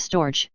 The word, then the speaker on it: storge: they're not clever enough the Greeks called This Love stor two syllables and the g is hard I shall here call it simply affection my Greek Lexicon defines storge as affection especially of